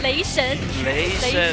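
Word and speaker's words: 雷神: Yeah, Lei Shen.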